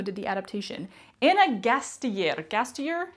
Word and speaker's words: Gasteyer: Gastier is how you say it.